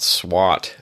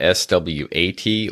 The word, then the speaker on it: SWOT: way we pronounce it, it's not SWAT like the police. It's not S.W.O.T, or it's not like SWAT like you swat a fly or something. It is S.W.O.T.